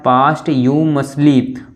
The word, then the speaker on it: posthumously: अगला POSTHUMOUSLY, इसको क्या पढ़ेंगे, इसका प्रोनाउंसिएशन क्या है, पास्ट यू मसली, पास्ट यू मसली, मृत्यु के पश्चात।